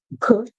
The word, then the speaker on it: could: Our next word we have could. O. We hear the long O sound. We do the L is silent and we hear it do.